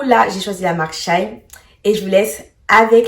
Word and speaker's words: Shein: Aujourd'hui j'ai choisi de prendre la marque Shine parce que c'est une marque accessible à tous et elle est connue de tous.